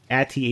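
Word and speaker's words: Aty: How do you pronounce her name? Ati, A-T-Y.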